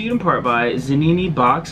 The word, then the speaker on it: Zanini: in part by is a Nene box I'm pretty sure I'm saying it right za and I and eyes and Nene kinda like panini right cool um they hit